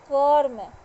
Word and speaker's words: कर्म: जैसे है कर्म, ये क पूरा बोल रहे हैं और म बोल रहे हैं, लेकिन र जो है बीच में वो आधा र का उच्चारण हो रहा है, इसलिए उसको क्या बोलते हैं? कर्म।